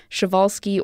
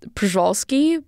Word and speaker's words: Przewalski: but it is pronounced sholi or proli a lot of people will put a p in the front and I'm not quite